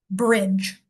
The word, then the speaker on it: bridge: D G E end of a word makes the sound j. It comes after a short vowel, so this vowel is going to sound like i. So this word will be b r i j bridge.